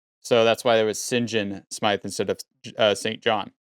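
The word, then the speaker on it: St John: John Smythe, the reason why it's pronounced St. John is because it kind of goes back to Norman French origin. So they would used to say like St. Clair would be Sinclair. So the sin would be saint.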